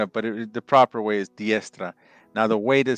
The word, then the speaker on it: diestra: is diestra. Yes. Diestra. Yes. So D-I-E-S-T-R-A. So diestra. So that's how you say it, right hand.